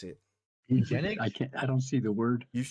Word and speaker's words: eugenics: Eugenics. Eugenics. but I'm watching the show. Eugenics is the word. Eugenics. Don't Eugenics.